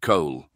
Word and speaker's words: Cole: Cole spelt C-O-L-E, but nonetheless, a bit of irony that someone whose name rhymes with Cole wasn't there for a speech about how coal gas was made.